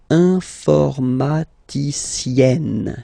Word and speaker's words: informaticienne: And you get the sound informaticienne, sienne. Remember, E and then double N, or then it could be double L or double consonant here. You open your E, so it's E, informaticienne. Okay, so I tend to insist a little bit.